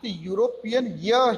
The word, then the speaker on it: European: So the spelling beginning with E, but the pronunciation is start with European here.